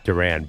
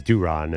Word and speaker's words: Duran: Well, it was just a funny joke that there were three people named Duran, but apparently it's Duron.